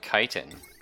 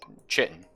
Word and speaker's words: chitin: that's you it's like chitin right like a lot of us just say she chitin but it's actually chitin sometimes annoying words that